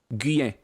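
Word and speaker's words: Guillen: Guyen.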